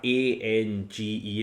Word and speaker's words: Ange: How can you have A-N-G-E and pronounce it Ange?